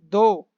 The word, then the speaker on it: though: Next है, हालांकि, दो। ठीक है, ये से हम प्रोनाउंस करेंगे दो, THOUGH, इसमें H साइलेंट है।